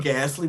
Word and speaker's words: ghastly: Ghastly with that silent H could Yeah, trip that's up not everybody's anybody.